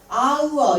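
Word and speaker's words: hour: 그런데 얘는 H가 있지만 H가 소리가 안 나. 발음이에요. 우리가 아우어 이러잖아요.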